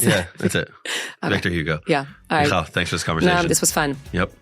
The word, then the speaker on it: Victor Hugo: the face of God love it thank you Victor hug is that the author yeah is that how you say it in English M Victor Hugo how do you pronounce it yeah that's it Victor Hugo yeah thanks for this conversation this was fun